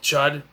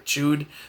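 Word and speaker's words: Chüd: there's a ritual called the ritual of chud or chewed I got it - but I've heard it pronounced shot before and they need tokens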